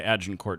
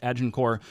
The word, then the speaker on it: Agincourt: Why do you pronounce the T in Agincourt?